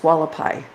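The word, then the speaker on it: Hualapai: And that's pronounced Wallapai.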